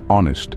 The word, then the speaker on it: honest: Words like knee, gnome, honest, and psychology can really throw you off. Remember, the K in knee is silent, just like the G in gnome, the H in honest, and the P in psychology.